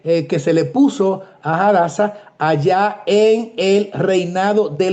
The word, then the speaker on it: Hadasa: Y entonces sigue diciendo, "Y este Mardoqueo había criado a Hadasa o Hasasa de acuerdo a si la pronunciación la hacemos con la h muda, diríamos como se habla en español, hadasa o hadasa."